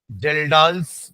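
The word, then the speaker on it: Kjeldahl: के ज डी ए एच एल एस्ट्री एस जल डालस मेथड के साइलेंट है बाकी जेल डाल्स astro जेल डाल्स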